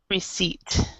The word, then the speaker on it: receipt: That we've got the P before the T, and that's also pronounced receipt.